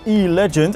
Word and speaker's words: e-Legend: on the Peugeot-stand; the e-Legend. Don't get angry with me because I pronounce it in English, I was assured it's meant to be pronounced that way.